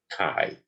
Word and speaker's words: chi: distribution okay and c-h-i is the greek letter pronounced chi and now the main concepts are these we're